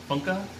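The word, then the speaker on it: Funke: to say cornelia funka funka i think that's how i say it because i have a german friends now so i was able to find out how this author's name is actually pronounced just like reading about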